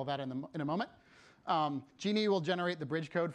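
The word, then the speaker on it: Djinni: It's pronounced Genie. This is just an alternative transliteration of the same word.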